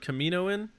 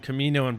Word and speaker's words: Kaminoan: Persing had a patch that looked like Kaminoan, like the cloning thing. Have you guys seen that? You guys saw that? Yeah. Kaminoan. Kaminoan? Kaminoan? Kaminoan. Is that how it's pronounced? Yeah. Oh wow, I had no idea.